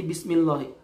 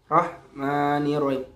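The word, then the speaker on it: بسم الله الرحمن الرحيم: Mohit loh kok jadi bismillahirrohmanirrohim bismillahirrohmanirrohim bukan rohmanir Rohim Bukan Ma itu tidak jelas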